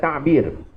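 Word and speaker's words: تعبير: Ta'bir kalau ejaan jawinya ta'ain ba ya ra. Bukan tadbir tu, bukan pegawai tadbir tu. Tapi ain, ta'ain, ta'bir.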